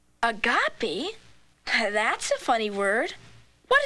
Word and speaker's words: Agape: a gap land oh that's pronounced Agape land agapy that's a funny word